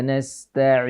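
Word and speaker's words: نستعين: Iyyaka na'budu wa iyyaka nasta'in. Nah, pelafalan huruf ain yang paling fasih adalah pita suara itu agak ditekan sedikit. A, tidak dilepas. A, tapi agak ditekan.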